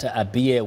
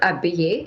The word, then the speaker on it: Abiy: First, how optimistic are you that Abiye would make a difference in the coming days as a prime minister? Let me begin by slightly correcting you how to pronounce his name. It's not Abiye, it's Abiy.